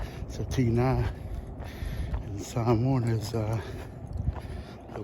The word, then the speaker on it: Tina: Family went to see um the movie Tina uh which is spel like Tina but the accent is on the a. So Tina and Sam is uh